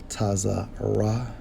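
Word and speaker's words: צרה: When we investigate this term trouble, Strong's H 6869 pronounced as Tazarah, which means a strait, distress, or trouble.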